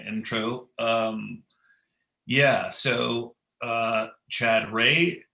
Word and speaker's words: Chad Rea: um yeah so uh chad ray is how you pronounce my name and uh i'm a